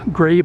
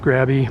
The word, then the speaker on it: Grabe: by the police to Grabe Electric. I'm going to pronounce it Grabe. It's G-R-A-B-E. Maybe it's Grabby, but Grabe Electric.